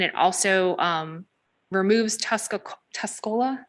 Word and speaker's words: Tuscola: the apple and it also um removes tusco Tuscola Tuscola is that how you say it County um